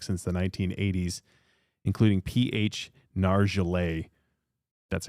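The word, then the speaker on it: Nargeolet: Nargelet. That's how you pronounce it.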